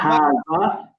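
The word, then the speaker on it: هذا: Yeah, so try to avoid the Z sound. Okay. It's more like a TH sound.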